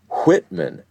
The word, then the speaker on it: Whitman: For most English speakers these days, WH is pronounced just exactly the same as W. I think our family has preserved the distinction because it's in our name. When I say, “My name is Whitman, it'll get spelled W-I-T-T-M-A-N